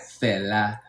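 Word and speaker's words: Fela: And you say it like Fella, right? F E L A, that's his name.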